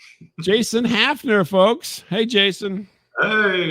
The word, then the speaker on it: Hafner: Uh, our guest tonight is uh Jason Hafner. I'm hopefully I'm saying your name right. Oh, good. It's almost like half with an L, but it's without the L. It's just half.